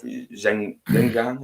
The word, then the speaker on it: Xinjiang: actions done in the area of Xinjiang, is how you say it.